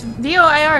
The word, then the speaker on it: voir: V O I R. Noir. Like like for example, like the word for black. Noir. Wait, wait till my guard. Yeah, Gardavoir. That's why I say Gardevoir because it follows the same principle of noir.